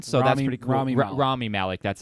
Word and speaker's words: Rami Malek: in this one so that's gonna grow me rami malek that's how you say it and then Ghostbusters